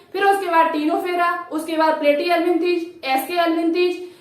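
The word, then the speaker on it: Ctenophora: टीनोफेरा में जो सी होती है वो साइलेंट होती है, लेकिन आपको सी यहाँ पर लिखनी पड़ेगी।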